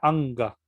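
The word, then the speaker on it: अङ्ग: Como la palabra anga. Ahí justamente se junta la N y la G, entonces es más fácil pronunciar anga, ¿no?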